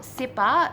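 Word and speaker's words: CIPPA: can't imagine that would be too many people sipper see I double PA stands for the crazy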